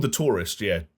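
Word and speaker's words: The Touryst: It's called The Tourist, but it's spelled TOURYST.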